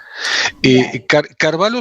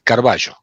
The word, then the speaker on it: Carballo: Carvalho sonaría italiano y mi familia es española, es Carballo.